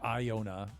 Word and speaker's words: Iona: I didn't get to see Staffa, though, but I did get down to Yona. Or Iona, as some people pronounce it.